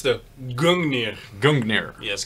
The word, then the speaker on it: Gungnir: So this is actually, can you pronounce the name? Let me try it. It's the Gungnir. Gungnir. Yes, Gungnir.